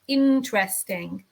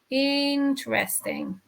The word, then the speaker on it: interesting: I pronounce this word interesting interesting this e is silent remember if you don't